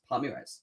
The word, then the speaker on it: Palmeiras: game tomorrow chelsea versus palmyras i always get it wrong because i can't pronounce it probably but palmyras palmieres that's it yeah palmyras we're going to